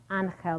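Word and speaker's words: Ángel: His name is Angel, pronounced Angel the Tejano way.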